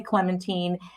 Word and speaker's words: Clementine: lady clementine yes i know everyone thinks it's pronounced wrong but it is lady clementine and it is again it is marie benedict